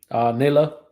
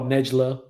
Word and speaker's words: Nayla: It's like Nayla. Think. Okay. Instead of NAJ, think Nayla. So, because a lot of people think they hear it and they're like, "Oh, Nejla," Right.